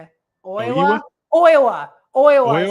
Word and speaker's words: Oiwa: Oiwa is how you say it.